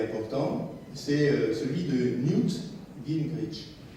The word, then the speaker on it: Gingrich: c'est celui de Newt Gingrich. Newt, N-E-W-T, Gingrich, comme ça se prononce, c'est-à-dire G-R-I-C-H.